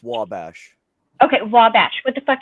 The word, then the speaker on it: Wabash: It's pronounced Wabash.